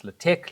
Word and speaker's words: LaTeX: This student asks the big question, LATEX or Word, and that's how you pronounce LATEX.